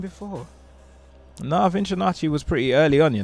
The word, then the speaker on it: VinchOnacci: VinchOnacci Project, am I saying it right? Yeah, you're saying it. Bang on.